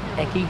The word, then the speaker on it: ekki: The wood is called ekki, that's spelled E-K-K-I, and it's extremely dense.